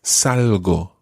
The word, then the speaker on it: salgo: It starts with salgo, salgo. Salgo. Yeah, it's one of those soft G sounds, so it's quite a salgo.